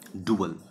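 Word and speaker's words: dual: डुअल। इसका pronunciation अलग है, उसमें उसका प्रोनाउंसिएशन था ड्यूअल, इसका प्रोनाउंसिएशन है डुअल। डुअल जैसे डू है और ए एल लिखा हुआ है, बिल्कुल वैसा ही प्रोनाउंसिएशन है, डुअल।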